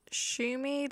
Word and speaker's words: SHUMI: Channel today we'll be looking at shumi that's how I pronounce